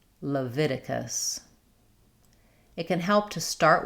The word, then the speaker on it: Leviticus: We have the stress on the V syllable and the vowel is I like in it. Leviticus. Leviticus.